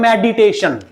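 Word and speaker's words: meditation: आप मेड को बोलोगे फिर मेड के बाद आप ई को अलग बोलोगे फिर उसके बाद टेशन एक तो आप ऐसे बोलो मेडी एक आप बोलो मेडई मेडिटेशन मेडिटेशन नॉट मेडिटेशन it will be pronounce as मेडिटेशन made made साथ है ई अलग है तो ई जो है ना ये सेकंड सिलेबल है ये ई जो है ये सेकंड सिलेबल है मेड फर्स्ट है ई सेकंड सिलेबल है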